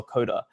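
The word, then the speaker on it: Codugh: since we're australian uh it's c-o-d-u-g-h it's pronounced the same for us coda as c-o-d-e-r coder right so we're like oh this is great you know it's applicable it's uh it relates uh what we didn't account for is that the rest of the world does doesn't pronounce it like that so so everyone gets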